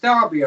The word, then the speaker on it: Derby: I'm from a city called Derby, which is spelt Derby over here, but it's pronounced Derby over there.